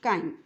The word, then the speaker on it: chyme: It is pronounced chyme.